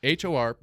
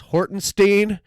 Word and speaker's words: Hortenstine: So it's Hortenstine. Okay. American phonetic Stine. Hortenstein. Everyone still goes Hortenstein.